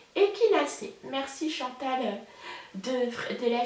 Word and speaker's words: Echinacée: prononcé donc ça s'écrit échinacées mais ça se prononce et qu'il a c'est merci chantal de traiter la chaîne fraîcheur mentale